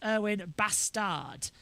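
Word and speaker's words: Erwan Bastard: But even though it's spelt how it sounds, the French pronunciation puts 2 S's instead of the 1. So it's Erwin Bastard, which I just find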